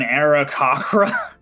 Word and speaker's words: Aarakocra: off of the shoulders and wings of an Aarakocra. Did I just mispronounce that? Did I just butcher that? No, that's the No, Aarakocra.